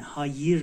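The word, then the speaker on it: hayır: هایر هایر هایر نیست ای آی با نقطه نیست آی بدون نقطه ا تلفظ میشه هایر هایر هایر هایر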